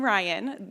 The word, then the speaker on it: Rhyane: I'm Rhyane. The E is silent. Pretend it's not there.